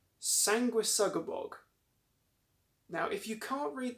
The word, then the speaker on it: Sanguisugabogg: So I believe that it's pronounced Sanguisugabogg.